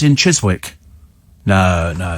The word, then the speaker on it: Chiswick: up there but no no it's it's definitely Chiswick Chiswick it's spelled like that c h i s w